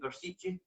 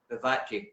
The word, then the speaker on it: Vivace: yourself when you went to, how do you pronounce it again, Versici? Vivace.